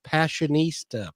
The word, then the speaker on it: Passionistas: And they have a project called the Passionistas Project.